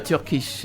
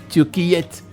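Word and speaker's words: Türkiye: On aurait pu dire Turkish. Mais maintenant, on ne dit pas Turkish, on dit Turquiyette. Et donc ça, c'est une prononciation pratiquement qui nous vient de l'Asie.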